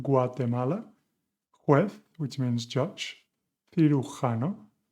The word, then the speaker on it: cirujano: juez, which means judge, cirujano, with the sounds that we have also worked on today, th and h, is surgeon, tequila, I'm